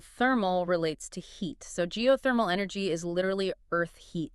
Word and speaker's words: geothermal: you break it down geothermal the emphasis is on the third syllable geothermal okay I think I can handle that Geo refers to the Earth and thermal relates to heat so geothermal energy is literally Earth